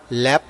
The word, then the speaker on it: Lapp: ง นี้ LAPP อ่ า น ว่ า lab ถ้ า เ ป็ น ชื่ อ ป